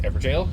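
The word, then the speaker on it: Evergaol: It's just pronounced Everjail? Is it really? Doesn't seem like it. No, it's not how it's spelled.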